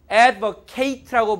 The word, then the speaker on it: advocate: 만약에 이런 단어가 있습니다 자 발음할 때 advocate라고 발음 하면은 옹호하다 변호하다 변론하다 동사입니다 근데 여기를 발음할 때 AD kit이라고 발음하면 변호사라는 명사 됩니다 이해되시죠 무슨 말인지 그러니까